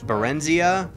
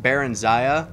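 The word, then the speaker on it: Barenziah: a book series um called the life of berensia or as it's properly pronounced baron zaya that's another thing is i always called her bear and zaya no i always called her barenzia until skyrim and i actually heard her name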